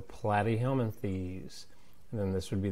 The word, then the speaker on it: Platyhelminthes: And so this is going to be flat rhymes with plat. So Platyhelminthes.